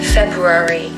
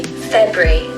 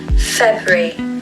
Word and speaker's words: February: I always hear my students saying February. It can be quite tricky, but really you can just say February. Put the stress on the first part of the word, February.